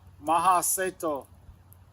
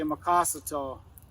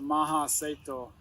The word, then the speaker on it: Mahaseto: His name is Harlan Mahaseto. Some people say Makasato, but he taught me a long time ago. You pronounce it Mahaseto.